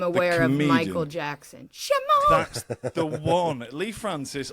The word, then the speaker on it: Shamaun: But one thing I do want to ask, though, is how do you pronounce it? Shamaun.